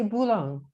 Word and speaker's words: Boulogne: You say Boulogne. Boulogne, like Cologne there you go. With a B, but it's Boulogne.